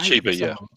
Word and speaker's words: Chiba: It's Chiba, if I'm pronouncing her name right. Chiba, yeah.